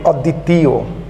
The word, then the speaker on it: অদ্বিতীয়: ঠিক একইভাবেই অদ্বিতীয়, তো আমরা এটা উচ্চারণ করি অদ্বিতীয়, অদ্বিতীয়। তো সেই ক্ষেত্রে এখানে দয়ে দীর্ঘ ই ছিল, আমরা সেখানে দীর্ঘ ই না দিয়ে হ্রস্ব ই দিচ্ছি।